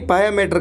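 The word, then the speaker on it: pia mater: ये आप याद रखने, पायामेटर की स्पेलिंग होती है PIA, इसको पिया नहीं पायामेटर कहेंगे।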